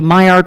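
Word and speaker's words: Maillard: a product of the Mayard reaction. There are a lot of different ways to pronounce it. I pronounce it the French way um because I think he was a French guy.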